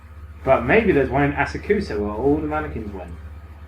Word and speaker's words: Asakusa: But maybe there's one in Asakusa where all the mannequins went.